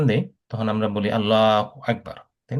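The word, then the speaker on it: أكبر: এখানে একটা কাফটাকে সুন্দর করে বলতে হবে আল্লাহু আকবার।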